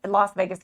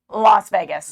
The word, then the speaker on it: Las Vegas: You're going to be down at the Las Vegas Convention Center.